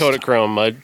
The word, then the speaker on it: Kodachrome: Is that what it's Yes, pronounced? Kodachrome.